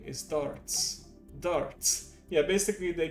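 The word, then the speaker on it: Dartz: this name like it's he's named after a pub game basically but that's his name and that's how they pronounce it too darts he's trying to resurrect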